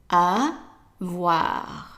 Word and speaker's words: avoir: we have done before, you know that the OI is pronounced as wa. So how would you pronounce the verb then? Right, avoir. Avoir. Okay, and make sure that you don't say avoir. It's avoir. So the stress is on the wa. It's longer and louder. Avoir. Okay?